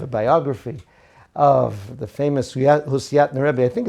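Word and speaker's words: Husiatyn: because i have a biography of the famous husseyat narabi i think it's actually pronounced hushatin even though it's written husseat and it's kind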